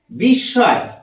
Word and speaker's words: বিস্ময়: ম ফলা রয়েছে মাঝে এক্ষেত্রে আমরা উচ্চারণ করি এইটা বিস্ময় ম উচ্চারণ করছি না আর যে বর্ণের সাথে ম যুক্ত আছে সেই বর্ণটাকে আমরা দুবার উচ্চারণ করছি দৃত্ত উচ্চারণ দৃত্ত দন্তস